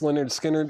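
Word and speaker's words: Lynyrd Skynyrd: Leonard Skinner, pronounced Leonard Skinner.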